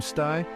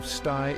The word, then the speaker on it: stai: The I at the end of stai is pronounced like a soft E.